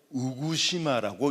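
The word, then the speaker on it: 宇久島: 오도열도의 가장 북쪽에 있는 섬이 바로 우구도, 우구시마라고 읽습니다.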